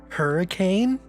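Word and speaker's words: Huracán: absolute madman the lamborghini hurricane i just like to pronounce it hurricane to piss off people how much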